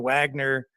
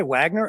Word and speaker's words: Wagner: both of these yeah I think the correct spelling would be or pronunciation would be Wagner as a reference to the composer that the Nazis liked so much of course so yeah